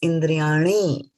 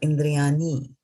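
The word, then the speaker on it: इन्द्रियाणि: dot underneath it right so this is na right and it when there's a dot here it's ana right so when you're pronouncing it don't make it soft it's indriyani and not indriyani you see the difference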